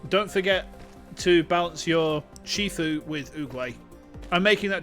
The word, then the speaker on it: Shifu: Because I'm pretty sure that that's the pronunciation of it. I'm pretty sure it's pronounced Shifu.